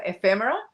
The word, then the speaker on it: ephemera: Yeah, I throw the emphasis on F, so ephemera, and then I say them as quick as possible.